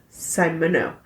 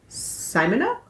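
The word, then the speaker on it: Simoneaux: Simono? Because E-A-U is O. Right. And I think the X is silent. Yeah. So it's Simono? I believe you. You can just call him Wally. Simono and Hembry were enticed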